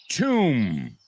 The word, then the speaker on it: tomb: So, climb, thumb, dumb, numb, bomb, tomb. What do all these words have in common? The B's are completely silent at the end.